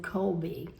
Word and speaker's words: Kolbe: One is Rob the Maritimer, and the other is Kevin Colby. That's spelled Kolbe.